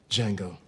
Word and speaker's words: Django: cameo what's your name Jango can you spell it d j a n g o the de silent I know Tarantino once